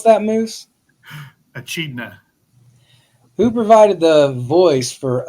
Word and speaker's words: echidna: Can you pronounce that, Moose? Echidna.